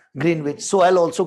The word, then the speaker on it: Greenwich: This is a place called Greenwich which is little east of London but if I say Greenwich I'll sound wrong because we have been speaking it as Green Witch.